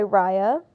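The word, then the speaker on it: Riah: And it's Raya spelled like R-I-A-H.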